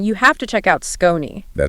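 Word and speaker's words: Skoni: If you're a golfer or you're shopping for one this holiday season, you have to check out Scon. That's spelled S K O N I and pronounced Skone.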